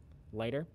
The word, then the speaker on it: Laigter: is a program called lighter it's spelled in a really funny way l a i g t e r lighter and the way that